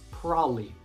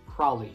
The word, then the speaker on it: probably: a lot and becomes prolly prolly you probably didn't know that so the syllable ba in the middle is completely silent it becomes probably probably